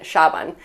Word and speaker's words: Saban: The next person on the list with Croatian heritage is Nick Saban. And just a note, Saban would really be pronounced in Croatian Shaban.